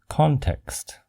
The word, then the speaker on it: context: In general, when the word is a noun, the C-O-N prefix is pronounced as con. For example, the word context.